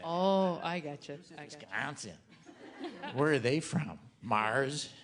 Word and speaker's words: Wisconsin: Oh, I didn't say it right. Wisconsin. No, we don't say it that way. People who are not from here say it that way. Oh, I got you. Wisconsin.